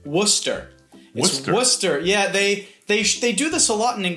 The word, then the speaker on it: Worcester: And in English they pronounce it "Woster."